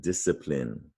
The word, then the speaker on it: discipline: about this c rule anytime a c is followed by an i you can be sure that is going to be a soft c an s sound as in cider or